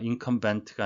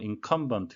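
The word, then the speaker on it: incumbent: 치르다 라는 의미가 되겠습니다 잉카 멤버는 발음의 의해서 되겠는데요 인컴 텐트가 아니고 인컴 번트 가 되겠습니다 합하여 쓴 사람인데요 후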